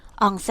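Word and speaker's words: ONCE: หมาย คำ พูด ปิด เขา ออก เสียง เป็น ภาษา สเปน ว่า เครื่อง หมาย คำ พูด เปิด อองเซ่ เ หมาย คำ พูด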